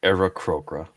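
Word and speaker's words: Aarakocra: It's actually pronounced Era Crocra.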